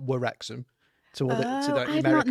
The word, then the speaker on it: Wrexham: with a W at the front and Ryan spelt with a W at the front to just show the fact that it's not Wrexham to the I've American not noticed audience.